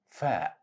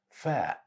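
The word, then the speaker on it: فاء: It's pronounced just like the English letter F.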